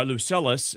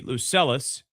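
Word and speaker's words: Lucullus: Before the threat developed further, Tyraes received word that Roman forces under Luc Lucius uh, Lucelus, excuse me, Lucelis. Uh, that's spelled L U C U L L U S. Lucelus was attacking his territory.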